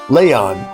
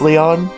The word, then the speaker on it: Leon: Leyon. He died. Yes, actually he was killed. My dad killed him. It's still pronounced Leon. Okay. Cuz I don't want to get confused with Leon from Resident Evil.